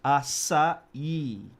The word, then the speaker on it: açaí: on the I, which kind of inflection on the I, so it's açaí. Yeah. And the I has a E sound in Brazil.